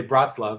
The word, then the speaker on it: Breslov: lover he would say bratz love that's the sort of more academic pronunciation he's a brother and